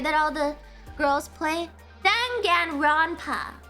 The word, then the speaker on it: Danganronpa: Danganronpa. How do you say that? Danganronpa. How do you pronounce that? Danganronpa. I don't like it. I don't. Dang it, Grandpa. You said it right the first time.